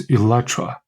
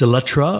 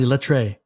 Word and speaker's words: Eletre: correct your pronunciation it's Electra it's Electra or not Electra Electra that's that's how the British pronounce it so oh okay Electra